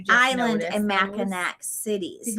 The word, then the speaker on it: Mackinac: just go and I watch every time them butcher the name, and they're like Mackinac, or some people just say island.